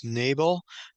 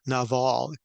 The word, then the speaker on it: Nabal: the man was nabal you probably have heard it as Nable but the Hebrew pronunciation is no Naval and so what's interesting